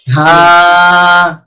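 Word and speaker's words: ز: ঝা ঝা আওয়াজ বের করতে হবে, সিটি আওয়াজটা বের করতে হবে, তাহলে উচ্চারণ সঠিক হবে। ঝা এটার সাথে দুইটা জিনিস খেয়াল রাখবো, সিটি আওয়াজ বের হবে আর হরফটা শক্ত হবে। সিটি আওয়াজ বের হলে এমনিতেই শক্ত হবে।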